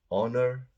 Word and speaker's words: honor: we go our honest honor so these are pronounced with an O at the beginning not an H the H is silent so it's an honest